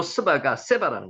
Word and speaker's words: 스바: 실제로 발음을 하면은 세바라고 적으면 이해하기가 편했을 텐데 스바라고 둘 다 그냥 발음 나는 대로 그냥 그대로 옛날에 적어 놨던 거예요.